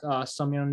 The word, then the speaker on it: Seungmyoung: Today we have Seungmyoung Lee. Did I Yeah.